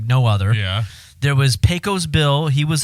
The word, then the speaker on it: Pecos Bill: pretty legit i uh it was a pesky pesco oh no pesco bill that's crypto pesco pete pecos no it's pecos bill i'm mispronouncing it peco's bill because he was like